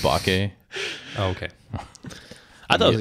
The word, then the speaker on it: bokeh: I'm really glad that you're explaining this to us, because this entire time I thought that bokeh was a style of taco. It's pronounced bake.